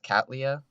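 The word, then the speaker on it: Cattleya: America or something and it's pronounced cat Lea in English but then is wrong but then it's Japanese so they say like you know that's a laya with a weird accent so like you know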